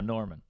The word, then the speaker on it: Normand: all right it's just it's a french name originally i think it's cool that's weird you've got that extra d in case someone someone needs it yeah exactly uh so